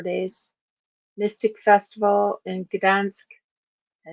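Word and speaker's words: Gdańsk: Mystic Festival in Gdansk. I said it right this time. Gdansk in June 3rd starting, and it's 4 days.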